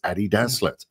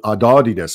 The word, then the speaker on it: Adidas: His name was Adi. And his surname was Dazlet. So it's Adi Dazlet. Adidas. Yeah. That's not really that's not really up for debate. If you want to pronounce it, you can call it Adidas if you like, but it's just not right.